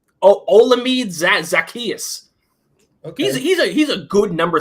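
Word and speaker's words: Olamide Zaccheaus: I mispronounce his name all the time. It's like Ocadius Zacharias or something. Oh, okay. He's our top receiver. He's like a solid number 3. Olamide Zacchaeus.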